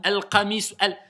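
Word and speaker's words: ال: que tu veux Alam al dès que vous voyez Alif FO Lam sachez que c'est ça se prononce al mais que je n'écris pas la Hamza c'est une règle en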